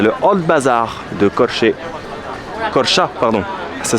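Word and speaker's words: Korçë: Corcha, pardon. Ça s'écrit Corché, mais ça se prononce Corcha.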